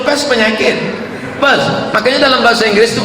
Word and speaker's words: Perth: I am going to Perth. Bukan pest, kalau pest penyakit. Perth.